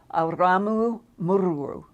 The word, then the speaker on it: Aramu Muru: of those pronunciations and it's Aramu Muru. It's roll your R's in it.